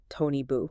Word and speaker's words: Toni Bou: Toni Bou, or as we must pronounce it, Toni Bou.